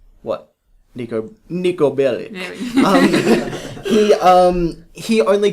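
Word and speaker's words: Niko Bellic: Nico Bellic.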